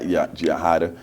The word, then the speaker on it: Yajaida: And before you read an excerpt from that, Yajaida, I know I'm killing your name, but No, you actually did it we got perfect.